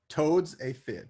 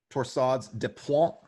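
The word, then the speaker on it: torsades de pointes: Toad's a fib. Torsades a fib. Torsades de point. That's what you meant to say, Nathan, I'm sure.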